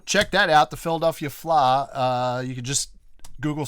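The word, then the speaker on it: Fleadh: that out the Philadelphia fly uh you can just Google search Philadelphia Flower and you'll find information spell that for them f-l-e-a-d-h yeah it's Irish yeah it's a very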